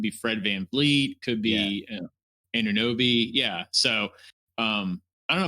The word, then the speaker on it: Anunoby: Have I been saying his name wrong? Anunoby.